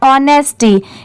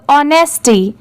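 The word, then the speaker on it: honesty: ऑन होता है बट यहां पर ओ की साउंड सेपरेट है ओ और एन ई एस टी नेस्ट होता है वा लग गया तो इसे क्या पढ़ेंगे नेस्टी अब इन दोनों को साथ में मिला देंगे तो ऑनेस्टी ठीक है बट लिखते टाइम यहां पर भी एच लिखा जाता है यह है एंड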